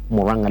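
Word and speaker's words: Murang'a: September 12th, Moranga leaders, I was told this this this word is Moranga leaders. So I should pronounce it correctly. Moranga leaders.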